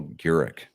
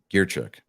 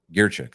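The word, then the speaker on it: Grichuk: first baseman CJ Crone go and outfielder Randall Garrick or uh gear Chuck gear check that's how you pronounce his name now they got right-handed um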